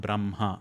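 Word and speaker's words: ब्रह्मा: So the last ones which are nasal then you utter that nasal sound first and then expel the air which is ha. So jan havi and braha are the correct pronunciation.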